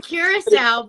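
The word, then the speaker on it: Curaçao: I'm going to Curacao, but Shada will tell you it's called Caracou. Curacao or Caracou. Comment below if you say it the way Shada says it or you say I say it.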